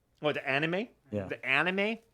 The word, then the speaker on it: anime: The anime? It's anime, Jay. There's no little circle on top of the A. I think about anime, and I think about like my cousin from the States.